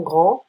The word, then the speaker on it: grands: Ils sont grands, they are tall. We add an S, we don't pronounce it.